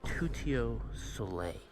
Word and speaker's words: Tuttio Soleil: Tutio sole, which is how you say that in French.